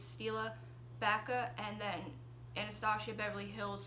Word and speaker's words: Bacca: But my very favorite is, it's very similar to what I'm wearing, and it's called Bacca, B-A-C-C-A. I believe that's how it's pronounced.